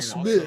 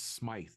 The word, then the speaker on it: Smythe: There is an Yeah. E in there. There's no. It's not silent E or whatever. Just there's an E It in is D. tough. Yeah. Like It's you've been PL plain Smith. also- It's Smythe. Yes. Smythe.